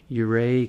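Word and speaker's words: Ouray: a lot of mining out there but um euray california or colorado and it's spelled u-r-a-y oh yeah um and it's a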